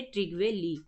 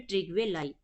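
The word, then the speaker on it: Trygve Lie: और पहले इसको जो सेक्रेटरी जनरल थे वो थे ट्रिगवे ली या फिर ट्रिगवे लाई, दोनों पढ़ सकते हैं, दोनों ही करेक्ट है प्रोनाउंसिएशन के अकॉर्डिंग। ठीक है।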